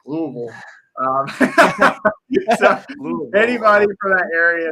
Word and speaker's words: Louisville: louis uh oh man i never say it right i say louisville and they're like louisville um anybody for that